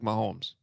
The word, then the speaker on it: Mahomes: uh I bet you his name rhymes with Patrick Mahomes uh yeah mahado that's